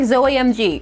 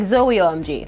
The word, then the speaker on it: Zoemg: tell you about hashtag Zoemg, although I initially said hashtag Zoeomg, but then someone in the comments said it should be Zoemg, like, oh my god, and you know what? I agree with their pronunciation. I'm gonna go with that.